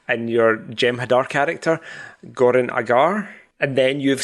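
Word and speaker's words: Goran'Agar: your Gem Hadar character Goran Agar and then you've said it since I said it and you said it correctly, Goranagar. And I'm like oh that's how you say it.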